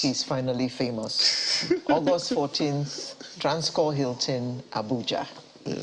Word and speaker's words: Transcorp: August 14th, Transcorp Hilton, Abuja. Yeah, so the P is silent.